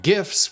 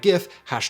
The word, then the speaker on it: GIF: it a long time many backers of the hard g pronunciation like web designer dan cederholm focus on the pronunciation of the acronym's component words with cedarholm tweeting in 2013 graphics interchange format graphics not graphics hashtag gif hard g hashtag who cares not